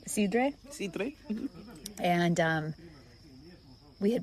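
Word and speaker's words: sidra: It was in Cider Alley, or as they pronounce it in Asturias, Sidre.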